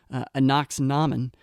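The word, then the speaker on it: Ankhesenamun: And then I also think this movie really talks a lot, especially when you start getting into Anaxinamen, which is how her name is pronounced in this movie, Anaxunamun in the 99 version of The Mummy.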